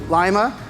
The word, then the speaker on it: Lima: I've searched my second time in Lima see I have to get it right they think lima bean and then I say it correctly but I'm excited to